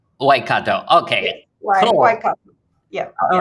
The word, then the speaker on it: Waikato: have said it uh pretty well correctly so why kato waikato okay yeah all right then so why don't